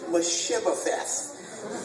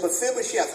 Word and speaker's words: Mephibosheth: So just repeat after me. Fib, O, Sheth. Careful with that last syllable. Okay. Fib, O, Sheth. Let's put it all together. Mephibosheth. Very strong temptation. I want to say Mephibosheth. That would be untrue. It's Mephibosheth.